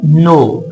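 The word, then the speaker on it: know: आई नो, ये लफ्ज है नो। ये यहां पर जो के है ये साइलेंट लेटर है। ये जो के है यहां पर के इज अ साइलेंट लेटर। के की आवाज हम अदा नहीं करेंगे।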